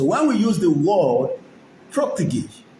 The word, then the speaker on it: protégé: So when we use the word protege, spell Papa, Romeo, Oscar, Tango, spell Papa, Romeo, Papa, Romeo, S, Oscar, Tango, Echo, Golf, Echo. Pronounce as protégé.